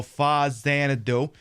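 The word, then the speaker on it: Faxanadu: Anyway, what do you What do you like about Fazanadoo? Tell us. Tell us. I like that. I can pronounce it two different ways because you could go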